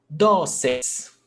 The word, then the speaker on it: dóceis: Dóceis, paroxítona, 2 syllables, the stressed syllable before last, dóceis, termina em eis, pé, accent mark.